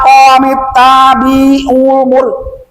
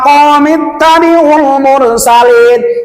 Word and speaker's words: قوم اتبعوا المرسلين: Kalau yang tidak dipanjangkan jangan dipanjangkan. Kayak contoh qomit tabi'ul mur, nah itu dipendekkan. Jangan gini ya qomit tabi'ul mur, salah. Ya qomit tabi'ul mursalin, ya qomit tabi'ul mursalin. Itu bacanya. Nah, itu yang ayat ke-20.